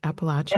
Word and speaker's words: Appalachian: Appalachian? That's correct. Okay. Appalachian fiction, because she's born and raised in that part of the country.